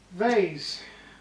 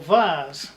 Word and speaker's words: vase: out to be a very nice presentable vase or vase whichever you want to pronounce it so there you are